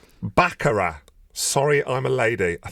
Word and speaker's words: Baccara: Baccarat. Sorry, I'm a lady. I think I said. Was that right? Yeah, well done. Baccarat. Sorry, I'm a lady is the next song. Sorry, I'm a lady by Baccarat.